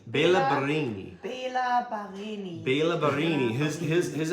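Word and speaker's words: Béla Barényi: Bela Barini. Bela Barini.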